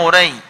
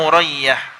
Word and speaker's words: Urayyah: Faqala ya Uray. Ini yang benar, ya Urayyah. Ya, ditambahi tak di situ ya. Ya Urayyah. Tasghir dari Urwah. Ya Urwah itu kalau ditasghir jadi Urayyah.